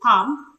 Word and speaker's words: palm: lamb silent in Bal the sound is silent in Palm show me your palm it's also silent in Psalm